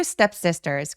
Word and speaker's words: step sisters: 아무튼 그래서 step sisters 할 때 s 뒤에 t들이 두 번 나오잖아요. 요럴 때 둘 다 된 소리 내 주셔도 됩니다.